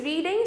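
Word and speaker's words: read: being रेड बाय मोहित रेड की spelling क्या होती है आर ई ए डी इसको हम रीड भी बोलते हैं और रेड भी बोलते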